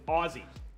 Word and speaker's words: Aussie: hanging out so much Ozzy it's Aussie Aussie Aussie Aussie I'm gonna say it right yeah I could taste